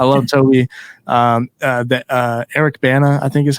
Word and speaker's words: Eric Bana: Stan so I love Toby um the uh Eric Bana I think is how you say his name